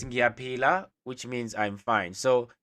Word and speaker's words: ngiyaphila: And then how you respond is ngiyaphila, which means I'm fine, I'm okay, and I am alive. Okay, how you spell it? Ngiyaphila, like how you peel the orange.